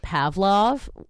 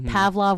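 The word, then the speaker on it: Pavlove: then a song called Pavlov um which Pavlov I never know how to say it cuz it's pav love with an e at the end oh pav I like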